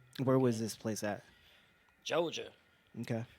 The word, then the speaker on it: Georgia: yeah, what I said is Georgia, but you know they pronounce it Joja Mm. down there, so that's how they do it.